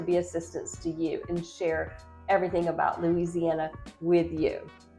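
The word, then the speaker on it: cher: roll also you'll hear the term share which means dear and that's spelled c e r means like oh dear oh share sorry about that so you'll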